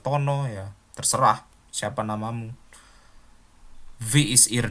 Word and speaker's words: wie: Yang pertama kita bilang wie heißen Sie? Ingat ya, pelafalan W dalam bahasa Jerman itu bukan W tapi V ya, V.